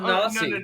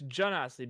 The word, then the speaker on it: Genasi: but you it's sound Ganassi. no. Hold on. It's a hard G. So No, why are you it's- pronouncing it's- it J? It's Genasi because it's based on genies, which is a J sound.